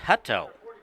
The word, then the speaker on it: Hutto: Just heard from my technical department that is pronounced Hutto.